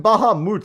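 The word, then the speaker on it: Bahamut: Well, I mean Bahamoot is not an incorrect pronunciation. That's straight up one of the ways to say it.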